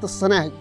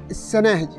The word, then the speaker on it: الصناهج: ولهذا التي سنتحدث عنها من بين هذه القور هي قارة الصناهج طبعا بالصاد، وهذا الاسم أيضا ينطق خطأ، بعضهم يسميه السناهج وبعضهم يسميه الصنهاج وبعضهم يسميه الشناهز، وهذا موجود في القبور.